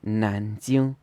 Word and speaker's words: 南京: So for example, Nanjing should be 南京, second tone, first tone.